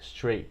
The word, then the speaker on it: straight: Eu não encorajo você a falar o T, porque no inglês americano eles não falam o T, só se estiver falando devagar, mas fica straight hair, straight, straight. Essa é a pronúncia dessa